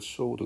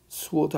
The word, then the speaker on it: sword: 자, the pen is mightier than the sword 그랬어요. 그럼 말 그대로 한번 해석을 해봐요. 펜이라는 놈이 글을 쓰는 펜이 sword, sword 아닙니다. sword죠, 그렇죠? sword 발음 조심하고요.